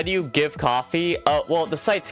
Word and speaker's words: Ko-fi: How do you give coffee? Well, the site's called Coffee. It's pronounced it's spelled Ko-Fi, but it was originally called Coffee.